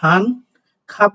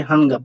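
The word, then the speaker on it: 한 갑: সেটার উচ্চারণ হয় গ এখন হান খাপ পড়বেন নাকি হানগাপ পড়বেন নিঃসন্দেহে আপনি হানগাপ পড়বেন গ পড়বেন এজন্য মূলত যখন শুধুমাত্র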